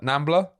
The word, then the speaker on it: NAMBLA: How do you say that? Nambla put together.